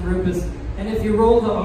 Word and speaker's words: Rupes: a couple of minutes here so it is pronounced Rufus in case you are wondering how to save him it is pronounced Rufus and if you roll the heart the Italian